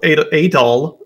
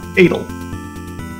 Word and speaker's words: Adol: mispronounce his name because his name is adol not adl very very important difference but they they keep calling him edel here so welcome to